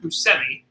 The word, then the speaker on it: Buscemi: Ana Montana is in it and seek Steve Buscemi is in it I know people say for Chevy but I heard him an interview say his name is actually pronounced Buscemi so that's what I'm doing that way and